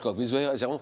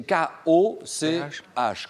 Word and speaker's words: Koch: Alors lui, Robert Koch, je crois que ça se prononce Koch, c'est K-O-C-H, Koch.